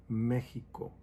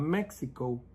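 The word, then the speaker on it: México: Of course, it's kind of just to prepare you, when you go to Mexico. It's not Mexico, it's Mexico. Even though it has that X, we don't pronounce it, it's Mexico.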